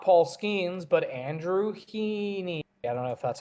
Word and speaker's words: Heaney: Not Paul Skeens, but Andrew Heaney. I don't know if that's how you say his name. Yeah, Heaney.